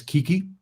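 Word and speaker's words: 危機: And the Japanese word for crisis is pronounced as kiki.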